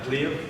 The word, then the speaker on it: Pliev: Pliev? Pliev, yeah.